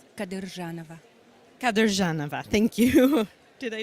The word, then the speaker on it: Kadyrjanova: Please say your last name so I don't mispronounce it. Kadyrjanova.